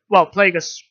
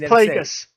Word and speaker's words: Plagueis: Yeah, people are always thinking it's Plagueis, and I've listened to a lot of like the Plagueis novel Plagueis novel, which is obviously set before episode 1.